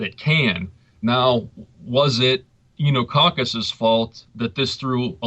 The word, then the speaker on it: Oenococcus: And you say it's Enococcus. It's spelled Oenococcus.